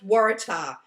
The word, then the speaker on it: waratah: see if you google waratah and it is pronounced waratah it seems to be uh i i never